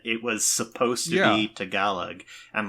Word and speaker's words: Tagalog: at the end makes me automatically want to pronounce it Tagalog yep I have exactly the same experience that that is something I had to to consciously learned that it was supposed to be to galag and like practice at that I I said